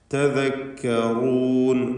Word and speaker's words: تذكرون: തദക്കറൂൻ room എന്ന റായിന് തഫ്ഖീം കൊടുക്കണം. പലപ്പോഴും നമ്മുടെ ആളുകൾക്ക് റായിൻ്റെ ഉച്ചാരണത്തിൽ അബദ്ധം വരും. മലയാളത്തിലെ റാ പോലെ പറയും. അത് വരരുത്. തദക്കറൂൻ എന്ന് തടിപ്പിച്ചുകൊണ്ട് റാ ഉച്ചരിക്കുക. ബാറക്കല്ലാഹു ഫീക്കും.